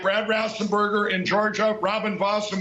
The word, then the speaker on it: Raffensperger: Horrible people like Brad Raffensperger in Georgia, Robin Voss in Wisconsin. Raffensperger, not Raff. What did he call him? Time. Horrible people like Brad Raffensperger in Rassenberger.